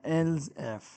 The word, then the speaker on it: elif: द एल एफ statement इसको इस तरह इसका ये शॉर्ट फॉर्म है और इस तरह प्रोनाउंस होता है एल्स एफ इट्स अ to check